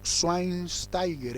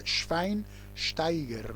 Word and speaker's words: Schweinsteiger: Algunos lo llaman Schweinsteiger, en realidad en alemán se pronuncia Schweinsteiger, ¿no?